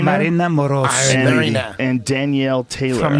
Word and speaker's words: Marina: It's pronounced Marina Moroz And Danielle Taylor from Ukraine.